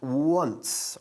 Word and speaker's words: once: At once, ¿ok? Se escribe 11, pero se pronuncia once.